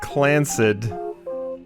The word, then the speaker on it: Clanc: __ ] comes from the clanc pronounced clansd trust is a highly